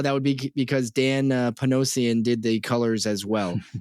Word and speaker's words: Panosian: and the artist is Dan pansan uh P panosian excuse me I apologize for mispronouncing that but Dan ponosan which